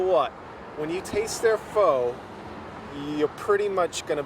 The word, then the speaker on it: pho: And you just answered my next question, which is it's pronounced pho.